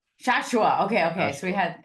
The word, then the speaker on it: Shashoua: But can you say it for everybody so we hear the correct pronunciation of your name? We can try to say it properly. Yeah, so it's Shashoua. Shashoua.